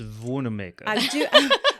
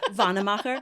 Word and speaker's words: Wannemacher: So It's pronounced Wannemacher. Wannemacher.